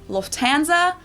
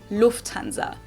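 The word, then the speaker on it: Lufthansa: flown with them before in English people usually say Lanza but in German we say Lanza so the emphasis on the first syllable Lanza versus Lanza that's nice and that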